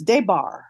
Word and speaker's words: Des Barres: The S is silent, by the way. It's Debbar.